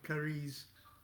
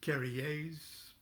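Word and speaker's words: Carrière: scene of jean claude curries or is probably pronounced carriers play the mahabharata where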